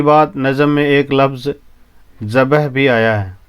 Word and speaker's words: ذبح: نظم میں ایک لفظ ذبح بھی آیا ہے، اس کا صحیح تلفظ بے اور ہے پر جزم کے ساتھ ہے، اس لیے ان